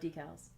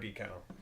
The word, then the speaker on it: decal: of the rhyme yes it proves the way that john prime pronounced the word decal some of us say decal you're wrong your flag decal won't